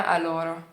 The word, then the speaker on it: allora: Ninguém fala allora, mas também não é allora. É allora, e allora, come stai?